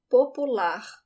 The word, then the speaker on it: popular: Popular. We spell it the same way as in English, but the emphasis is at the end.